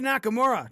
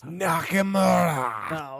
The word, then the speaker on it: Nakamura: Shinsuke Nakamura defeated The Miz, continuing to be the Intercontinental Champion for WWE. You said it wrong. It's Nakamura.